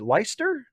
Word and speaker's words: Leicester: ever seen uh christiacity can i pronounce worcester and leicester is that right is it leicester worcester and leicester right that's correct lisa garrison did i watch